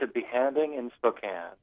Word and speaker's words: A Behanding in Spokane: Because we can't pronounce it. So you tell us the name, Kevin. It's a Behanding in Spokane.